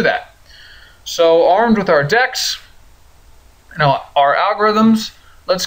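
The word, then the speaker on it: deque: a deck I know it looks like DQ in fact I know it looks horrible in my bad handwriting but this is pronounced deck and it's a special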